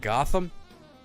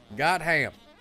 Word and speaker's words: Gotham: Well, most people pronounce it Gotham. Wrong. Gotham. Gotham.